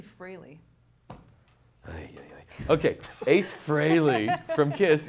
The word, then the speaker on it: Frehley: one well fun fact Ace Frehley from kids it's actually freely okay Ace Frehley from